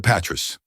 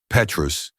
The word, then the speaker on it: Petrus: She delivered the name with perfect pronunciation. Petrus, the T silent, the vowels pure.